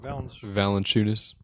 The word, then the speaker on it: Valanciunas: Valanciunas. Valanciunas, yeah.